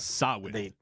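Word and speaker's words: Samhain: no I did not sawin sawin is how you pronounce it sa yes even though there's an m and an H several letters that sa sawin sawin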